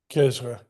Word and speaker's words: Khidr: in Persian, we pronounce D as Z. Right. So that's how Persians pronounce it. So they say, what is it again? Khidr. Al-Khidr. Z for zebra.